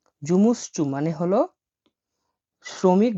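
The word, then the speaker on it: жумушчу: হয় হলো জুমুস চু জুমুসচু জুমুসচু মানে হল শ্রমিক বা কর্মচারী বা ওয়ার্কার। দেখেন আমি এটা ভেঙে দিচ্ছি। এটা জে ইউ এম U. Jumu S এইচ এটা সি এইচ। চরের মত উচ্চারণ হয় চ আর এটা ইউ।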